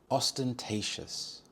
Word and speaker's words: ostentatious: for a well-fought match ostentatious ostentatious the stress is on the third syllable T ostentatious this means showing off